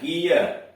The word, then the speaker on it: gear: इसमें देख रहे हैं कि इनके बाद यानी जी के बाद ई भी आ रहा है, आई भी आ रहा है, फिर भी उच्चारण इसका गो हो रहा है।